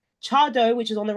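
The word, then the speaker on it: Tseaddo: the right hand side the one that's spelled TS e a d d o Cho is I know the pronunciation doesn't quite match up to how it's said but how how it's written that is now kind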